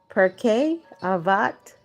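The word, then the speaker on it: Pirkei Avot: The next one is per Avat 41. And I'll spell it out.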